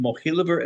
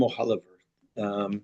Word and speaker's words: Mohiliver: Before the establishment of Mizrahi, Rav Mohiliver was already, I've seen his name pronounced Mohiliver and Mohiliver. So whichever one you're aware of is fine. I've seen both.